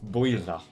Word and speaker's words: Builth: That's That's That's what That's how it's pronounced. Builth I'm I'm all right.